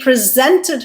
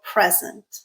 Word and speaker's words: present: He presented her with a beautiful present. All right, so let's go back and see if our pattern held for this pair. Present, second syllable stressed, verb, check. Present, first syllable stressed, noun, check.